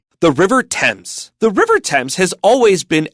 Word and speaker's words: Thames: It is not ths it's temps. There are a few words in English many of them proper nouns but not all. When you see th you pronounce it as t.